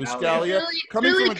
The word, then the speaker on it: Buscaglia: What did I get wrong? Well, it's Buscaglia. The G is silent. Buscaglia.